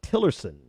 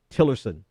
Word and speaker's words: Tillerson: His other pick that we should discuss is Tillerson, I believe is how you pronounce his Exxon CEO Rex Tillerson.